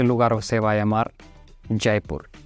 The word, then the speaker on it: Jaipur: tengo que parar un poquito porque él está pronunciando hyper y yo creo que Luisito también así pronunció hyper porque se escrita J a i p u y r y eso para ustedes es hapur pero la verdad eso se pronuncia jaipur Entonces